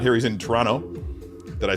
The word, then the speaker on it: Toronto: He's in Toronto. Did I say that right? The T is silent. The second T is silent. Is the first O silent? Because I've heard it pronounced Toronto. Like Tron O.